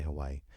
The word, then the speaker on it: Hawaii: Hawaii. You have to pause when you say Hawaii.